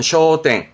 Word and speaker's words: 焦点: 발음은 쇼땡, 쇼땡.